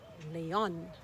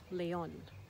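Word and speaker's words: León: a beautiful city called leon leon the accent on the o tells us that we're not focusing on the e we're focusing on the o and another city is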